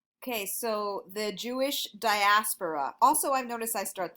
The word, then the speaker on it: diaspora: at the Jewish Diaspora that is this word diaspora that's how you say it and spell it when I went to college people were